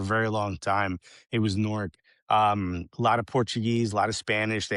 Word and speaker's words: Newark: So, I grew up in a city called Newark. We don't pronounce it that way. We say Norc.